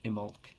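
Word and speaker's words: Imbolc: Festival IM imul it's spelled imul but it's pronounced imul uh held on February the 1st or second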